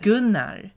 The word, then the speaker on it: Gunnar: Yeah, and then sounds and like then when you know how it's actually pronounced, when you say like Gunnar. Yes, Gunnar. Hej allihop, det är jag, Gunnar.